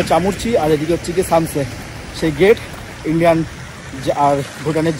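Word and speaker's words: Samtse: দিয়ে ভুটানের এদিকে সামসে সামসতে আর কথাটা উচ্চারণ হচ্ছে সামসে তা বুঝে গেছি এখানে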